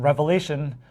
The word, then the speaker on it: Revelation: So in Revelation, RE isn't pronounced re.